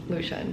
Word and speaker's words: Lucian: the audiobook realized that his name is pronounced Lucian which means I've been saying the wrong name for about two and